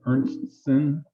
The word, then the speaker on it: Ernstsen: pronounce her name Ernstson, and she's a local member here.